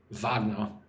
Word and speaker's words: Wagner: Well, yes, the composer would be pronounced the German way because he was German. Vagna.